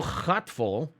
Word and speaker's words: gatvol: So gatvol is for the gatvol. Oh, how the hell would I pronounce that? Wait, how the hell? Gatvol. Ghat full, as in folly, right?